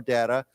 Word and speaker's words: data: Remember, I said that word, you can pronounce it either way, data or data, information from the U.S.